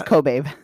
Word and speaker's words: Kobabe: You found out how to say It's Kobabe.